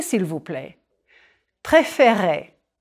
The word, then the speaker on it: préférer: Préférer. Smile a bit when you say those E accent aigu.